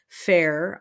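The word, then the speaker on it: Phaer: There was a book written for parents in 1544 by a man named Thomas Fair, is how I'm pronouncing it, P-H-A-E-R.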